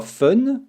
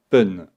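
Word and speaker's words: 分: c'est un peu plus complexe normalement on dira fun mais il ya des exceptions pour un 3 6 8 et 10 ont prononcera pun là aussi regardons un exemple pour dire il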